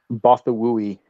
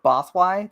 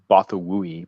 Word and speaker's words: Bothawui: Bothwai? That's how I usually have said it. That's how I read it. But apparently I'm wrong. I've always pronounced it Bothawui, but Bothawui?